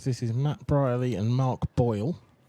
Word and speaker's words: Mayer: Mar. Apparently it's Mar, and I keep pronouncing it wrong.